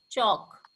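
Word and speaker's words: chalk: hold न last चौक जब भी हम चौक को बोलते हैं तो हम एल प्रोनाउंस नहीं करते हैं दिस इ चौक व्ट हैपन टू लक्षिता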